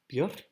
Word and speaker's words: Björk: It's as it's pronounced in Icelandic. Björk.